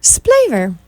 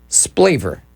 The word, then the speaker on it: Splaver: Splaver. Yep. Splaver. Splaver. Okay. Now, say that one more time, just in case somebody's trying to write this down. Dr. Splaver. Splaver. Rhymes with flavor.